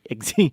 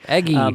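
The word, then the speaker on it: Eggsy: kind of know egy sorry yeah not eggy egy Mark Strong as Merlin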